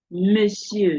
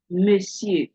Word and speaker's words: monsieur: Monsieur is a silent T that is there, even though you are saying on. Okay. Monsieur.